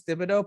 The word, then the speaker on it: Thibodeau: t-sh oh okay yeah i knew it was thibodeau but then people call him tibbs tibbs yeah okay that's just like a nickname but it's not thibodeau is he french or something what's that last